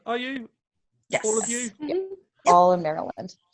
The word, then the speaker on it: Maryland: maryland in terms of i call it maryland where as you call it maryland um merlin baltimore's merlin if you live in baltimore you don't pronounce all those letters either anyway maryland maryland how